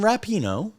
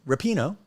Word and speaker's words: Megan Rapinoe: this again for four more years and Megan rapino rupino God damn it this would be such a better podcast if I knew how to say her name right Rapido you say rupino I say Rapinoe but you know how do you take big